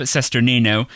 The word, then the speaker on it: Cesternino: niche that you love and you said rob cesternino who's on twitter and youtube at rob cesternino and his last name is spelled c-e-s-t n o he's the host of